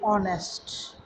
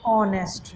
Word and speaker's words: honest: some students say honest some students say honest now which one is right it is honest not honest now these kind of